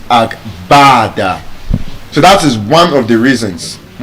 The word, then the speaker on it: agbada: So because there's no B sound, it means in English phonetics, it cannot pronounce it as agbada, it's agbada.